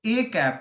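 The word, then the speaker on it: â: ठीक है, तो ए कैप इसको ऐसे प्रोनाउंस किया जाता है, ए कैप।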